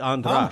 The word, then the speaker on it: Andras: My name is Andras, and nobody pronounces it correctly. So, right, I'm used to it. German, Hungarian. It's actually Andras.